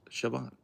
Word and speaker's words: Siobhan: But it's pronounced Siobhan.